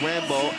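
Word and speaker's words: Rambaut: He says it's Jules Rambo and Vincent Fauché.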